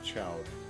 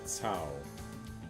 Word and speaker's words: Cao: Not Chow, Cao.